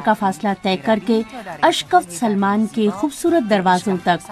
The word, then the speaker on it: اشکفت: پوری طرح نمایاں ہیں۔ اشکافت یا شکفت کے معنی شگاف کے ہوتے ہیں، تاہم مقامی لہجے میں اسے اشکفت کہا جاتا ہے۔ ایزے معتدل آب و